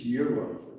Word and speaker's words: gyro: it pronounce hero or Gyro they have that and they have the little you know when you're in the Middle East it's yearo yearo but a process yeah